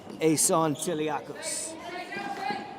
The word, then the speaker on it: Tiliakos: And his last name is typed out for me today and I can pronounce that better than the written version yesterday, and it's Tiliakos.